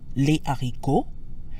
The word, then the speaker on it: haricots: However, the beans, les haricots, does not have liaison. The S in les stays silent because the aspirated H in haricot follows the same rule as other words that start with a consonant.